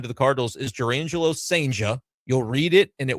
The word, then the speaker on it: Cijntje: It's Cijnt. Yeah. J-E. Yeah. You got close. Cijntje. J-E. No additional L at the end. Got it. No, See, I'll get there. Yeah, there you go. But Cijntje is how you say it.